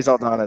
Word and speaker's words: Zaldana: it right but a lot of people don't pronounce it right okay so it'll Donna it is Gary Saldana then okay cool I noticed when we first